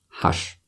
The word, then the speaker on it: ҳашт: ҳашт. And just like 7, we don't pronounce T at the end. Hash, like that.